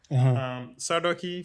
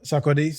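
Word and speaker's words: Sarkodie: Sadoki for sure. Sakodi from Ghana. I always say his name wrong.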